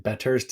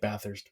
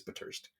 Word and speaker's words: Bathurst: And Bathurst is how they say it there, which is very French. There's a street in Toronto called Bathurst, and we say it Bathurst, but out there it's Bathurst.